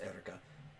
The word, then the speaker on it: Eureka: It's spelled Eureka, but it's pronounced Erica.